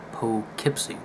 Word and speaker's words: Poughkeepsie: I just finished the poke keep seat tapes where as they said it pull Kip see not spelled like it sounds okay start with the